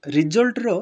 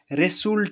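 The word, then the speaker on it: result: হুয়ার we actually right the same thing and pronounce also same thing মানে দেখুন তো আপন মানে মার্ক করুন তো রেজাল্টর স্পেলিং হইছি আর ই এস ইউ এল টি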